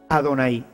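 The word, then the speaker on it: Adonai: pronuncian ya ven ellos cuando ven este programa van a pronunciar adonay porque esto es lo que ellos deben de decir con el paso del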